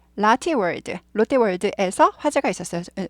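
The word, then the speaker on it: Lotte: 탈이 없어서 다행입니다 라티 라티 world 롯데가 이제 그 일본식 발음 이죠 그래서 라티 world 라티 영어식으로 라티 world L word 이렇게 되고요 그래서 롯데월드에서 화제가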